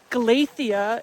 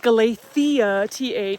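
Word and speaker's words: Galicia: And technically, we are in Glacia. It's pronounced Gala, th not glacia.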